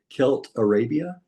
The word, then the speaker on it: Celtarabia: When you uh you played in the band, let me see if I pronounced it right. Kelt Arabia.